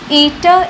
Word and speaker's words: eta: Eta is the coefficient of viscosity. This is pronounced as eta in Greek language.